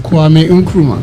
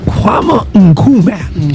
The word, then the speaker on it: Kwame Nkrumah: And you say the name right, because you can pronounce it. Say it again for me. Kwame Nkrumah. Kwame Nkrumah.